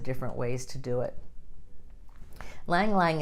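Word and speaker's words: ylang-ylang: Lang Lang is another one, spelled Y-L-A-N-G, Y-L-A-N-G. Lang Lang's how you say it.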